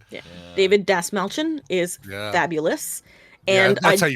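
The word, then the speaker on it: Dastmalchian: David Dasmalchian is fabulous. Yeah, And I counted for you, Brian. Right. Has it always been Dasmalchian? Brian. Is it Dasmalchian? Do we know for sure? Dasmalchian.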